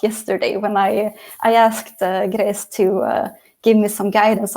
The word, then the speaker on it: Gresë: when I I asked grace to give me some guidance on how to pronounce her name and she said to me like well it's it's like saying grace but with a Scottish accent so now I just